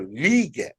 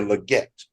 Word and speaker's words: Legette: the other day that we've been pronouncing his name wrong the whole time is Xavier liette liette Li not Xavier Legette it's Xavier liette he said it now I